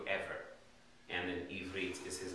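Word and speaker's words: עבר: So Ivrit means the language of Eber, which is in pronounced in Hebrew, Ever.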